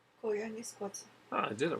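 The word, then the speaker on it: Koyaanisqatsi: How do I pronounce Koyanis Kwatsi? Koyanis Kwatsi.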